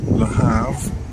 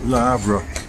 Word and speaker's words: Le Havre: I hear a lot of people calling it Le Havre. I guess that's the American way. But the French way, you take the L and combine it with the next word. The next word begins with an H, which is not pronounced. So, and then you get the RE part. So it becomes Le Havre, as far as I know.